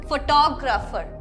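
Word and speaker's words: photography: हम फोटोग्राफी की वजह से फोटोग्राफर प्रोनाउंस करते हैं, बट नहीं, वापस से PH को हम F प्रोनाउंस करते हैं, ठीक है? तो ये हो जाएगा फोटोग्राफी, फोटोग्राफी, और उसी के साथ साथ फोटोग्राफर, फोटोग्राफर।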